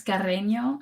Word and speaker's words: Carreño: Today we have, and sorry if I mispronounce this, Ariel Carreno. It's Carreño.